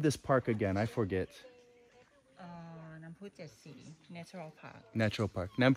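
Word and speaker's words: น้ำพุเจ็ดสี: And how do I pronounce this? Chetsi. Yeah, Chetsi. Nam Pu Chetsi.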